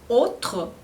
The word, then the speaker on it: autre: Então, vamos começar aqui com o conjunto A, U, o conjunto das vogais AU, AU, em francês, e que o som é O. Então, como nos exemplos que eu tenho aqui, autre, autre, Auguste, aussi.